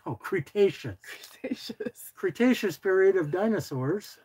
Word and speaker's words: Cretaceous: Wanted me to pronounce to say. Crustaceans? Cretaceous.